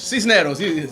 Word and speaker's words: Sisneros: So did I pronounce that right? Cisneros? Cisneros.